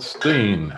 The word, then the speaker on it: Stein: moving along to robert steen it looks like stone but they pronounce it steen and this is from